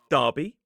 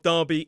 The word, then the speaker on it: Derby: And also with Derby, it is D E R B Y. It is not derby, which would probably make more sense. It is derby with that long r vowel sound.